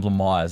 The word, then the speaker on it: Blamires: Um Tom Blamires, no, it's Tom Blamires. That's how you say it.